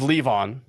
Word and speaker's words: Levon: Andrew High Lavon Robbie Richard and Rick let's leave on that's how you pronounce this and this is the band oh